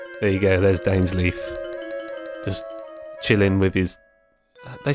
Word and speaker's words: Dainsleif: Dainsleif. That's how you correctly pronounce it. Dainsleif. Not Dainsleif.